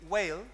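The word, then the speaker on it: Weill: Sí, ese, Peter Whale. Muy bueno. Whale, W-E-I-L-L, Whale, tal cual suena.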